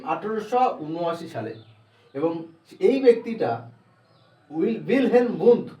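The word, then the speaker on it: Wilhelm Wundt: ইনি একজন German psychologist, এবং জার্মানি যে প্রোনাউন্সিয়েশন সেটা অ্যাকচুয়ালি উইলহেলম উন্ড, কিন্তু আমরা ইংলিশে বা আলাদা আলাদা ল্যাঙ্গুয়েজে এটার প্রোনাউন্সিয়েশন করে থাকি উইলহেলম উন্ড বলে।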